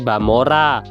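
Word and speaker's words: Vamola: disebut juga dengan famola karena orang Jepang ngomong R itu kayak l dan V kadang diucap b atau sebaliknya sebagai contoh adalah nama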